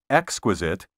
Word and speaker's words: exquisite: The accent properly should be on the first syllable in the words exquisite and hospitable.